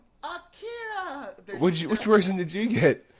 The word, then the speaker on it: Akira: It's not Akira, it's Akira. First off, that's what tripped